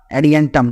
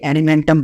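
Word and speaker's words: Adiantum: होगा ड्राप होगा टेरिस होगा और एडि एंटम एडि एंटम जिसको मैंने पहले एलिमेंटम बोल दिया था ठीक है चलो तो ये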